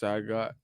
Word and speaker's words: Sagat: Sagat. It's pronounced Sagat.